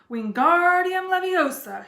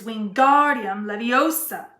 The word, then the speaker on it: Wingardium Leviosa: Wingardium Leviosa, he shouted, waving his long arms like a windmill. You're saying it wrong, Harry heard Hermione snap. It's Wingardium Leviosa. Make the gar nice and long.